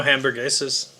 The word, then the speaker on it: hamburguesas: I know hamburguesas. Hamburguesas. Yeah, Tyler. You don't pronounce the H. Yeah. It's not. Doesn't start with a J.